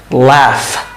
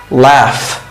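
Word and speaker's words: laugh: দেখেন GH টা F এর মতো উচ্চারণ হয়, ল্যাফ, ল্যাফ।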